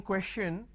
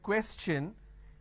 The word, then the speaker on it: question: here what happens is instead of saying question I can't say question because t i o n is sure sound no when I have the word question the t i o n becomes so it becomes question all right so please